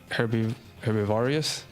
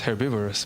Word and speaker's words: herbivorous: Herbivorious. Herbivorous, right? In English is herbivorous, but I'm thinking in Spanish it would be herorious.